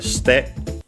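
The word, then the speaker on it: して: Suru again is completely irregular, so to make it step form we have to remember that it's ste. Again, they barely heard it at all because it's between a voiced consonants.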